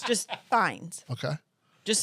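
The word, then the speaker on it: Fiennes: Ral Ralph it's it's spelled Ralph but it's pronounced r a f fines just fines okay just say Lord Voldemort that's that's what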